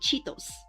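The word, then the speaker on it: Chitose: And this guy is named Cheetos. It's like the way to spell it is like c h i t o s e.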